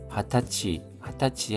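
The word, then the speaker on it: 二十歳: 각지대 각지에서 각지대 하타치 하면은 20살입니다. 20살이 아니라 하타치입니다. 하타치요 이와우 하면은 축하하다입니다.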